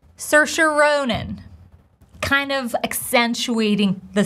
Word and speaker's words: Saoirse: As she says it herself, Saoirse like inertia.